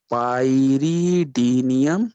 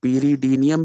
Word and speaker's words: pyridinium: पाइरीडीनियम या पीरीडीनियम भी प्रोनाउंस करते हैं, पीरीडीनियम, पीरीडीन से पीरीडीनियम chlorochromate.